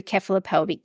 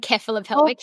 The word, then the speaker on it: cephalopelvic: true keop pelvic disproportion do you say it like keop pelvic that's so funny it doesn't it you know who it doesn't matter it's you know some people say seph some people say ke ke is like know calic like